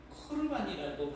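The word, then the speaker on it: קרבן: 그런데 거룩관이라고 하는 것은 아까도 잠깐 말씀드렸지만 코르반이라고 발음하는 것이 더 어 이제 정확한데이 뜻이 제사 재물이라고 하는 뜻입니다.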